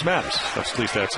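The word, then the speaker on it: Matusz: It's who's this Matuska? And I go, well, and which is actually, I guess, the Hungarian pronunciation. But it's Mattis.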